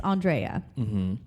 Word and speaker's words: Andrea: i've already we've gotten it all but it's andrea thank you for asking yeah because we have